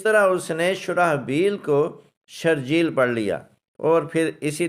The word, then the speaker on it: شرجیل: ایک مشہور لفظ ہے شرجیل۔ شرجیل جیسے کراچی کے ایک مشہور سیاستدان ہے شرجیل میمن، اب اس لفظ کا تلفظ شرجیل نہیں ہے، یہ بھی قاری کی غلطی ہے، حالانکہ شرجیل تو